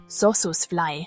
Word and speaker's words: Sossusvlei: We are in the Namib-Naukluft National Park, home of the famous Sossusvlei. You're probably wondering how to pronounce that! Sossusvlei.